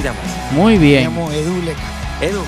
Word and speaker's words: Edu Lecca: Ok, se pronuncia Edu Leca.